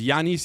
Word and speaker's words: Giannis: Yanice is the correct pronunciation of his name.